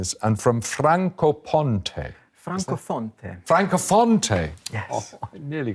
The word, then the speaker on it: Francofonte: From, am I pronouncing this? And from Francofonte.